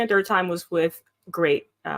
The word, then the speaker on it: GLEAT: And like the first time was with TJPW, and the second and third time was with Great. It's spelled GLEAT, but it's pronounced Great.